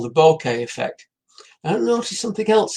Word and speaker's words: bokeh: Well, with what they call the bokeh effect. Bokeh effect? No, nothing to do with a bunch of flowers. It's spelled B-O-K-E-H.